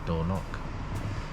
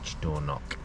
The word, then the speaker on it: Dornoch: come out of the door knock i think that's how it's pronounced our door knock d-o-r-n-o-c-h door knock i thought i'll go